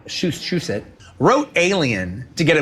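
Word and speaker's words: Shusett: bannon and i think ron shush that's the way you pronounce this she said shusit wrote alien to get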